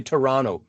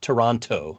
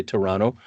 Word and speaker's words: Toronto: Canada and I'll say Toronto not Toronto I'll say Toronto like I'm supposed to and I hope that